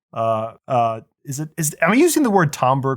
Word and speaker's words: timbre: It's timber. Timber. Or no, sorry. Timbre. Timbre. It's timbre.